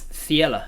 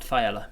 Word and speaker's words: Thiela: Sounds like this because it's Thiela, not Thaela.